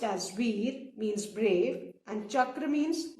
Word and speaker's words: Veer: Param means ultimate, Veer pronounced as Veer means brave, and Chakra means wheel in Sanskrit.